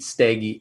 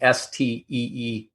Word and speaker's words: Steege: My name's hard to spell, like it's hard to pronounce, but maybe I'll do that real quick. It's Steege, Steege.